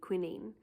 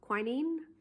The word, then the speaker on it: quinine: So I looked up the word, and in French it would be quinine, but I'm finding that other people pronounce it quinine or quinine, so there are a bunch of different ways it could be said.